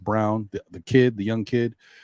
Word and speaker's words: Braun: you know they Bruce Brown uh the kid Braun or no it's actually it's spelled Brawn but it's actually pronounced Brown the kid the young kid um you know